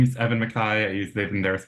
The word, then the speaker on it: MacKay: Yeah, Mai is how uh my last name is pronounced like Ian Mai.